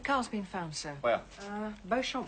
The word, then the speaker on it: Beauchamp: Beauchamp Walk, Southwest 3. Pronounced Beecham. Thank you, sir. Is that meaningful? Could be. Beecham Walk.